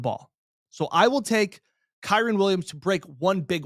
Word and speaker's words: Kyren: So I will take Kyren Williams over 18.5 rushing yards for his longest rush. I know I've flubbed that up a few times. Kyren Williams, longest rush, over 18.5 yards.